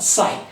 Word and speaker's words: psi: do you pronounce it you have to pronounce it as what psi that is p is what silent right so let us